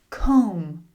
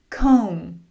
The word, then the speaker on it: comb: Comb. Comb. Dumb. Dumb. Numb. Numb." You can see the "B" is usually silent when it comes after "M" at the end of a word.